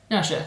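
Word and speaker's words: Naoise: Now someone's told me it's Nersha, that's obvious because I think of like Saoirse Ronan and everyone knowing how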